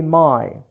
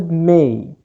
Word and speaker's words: may: We don't say my, but it's pronounced may.